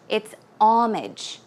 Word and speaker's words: homage: so pay homage to although it starts with an H the H is silent so it's not homage its homage homage pay homage to